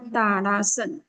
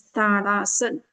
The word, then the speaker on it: Tadasana: So this is called Tadasana. So we have to pronounce properly, okay?